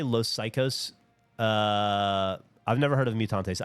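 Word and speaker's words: Los Caicos: Did you say Los Psychos? I've never heard of Mutantes. I did say Los Psychos, but it's spelled Caicos, I believe. Like LOSCAICOS, I think is how it's spelled.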